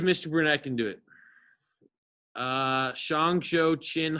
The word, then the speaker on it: Shang: Shang, Zhou, Qin, Han, Sui, Tang, Song, Yuan, Ming, Qing, Mao, Zedong.